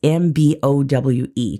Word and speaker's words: Mbowe: It starts with an M, but the M is silent. It's Mbowe, Khadija Mbowe.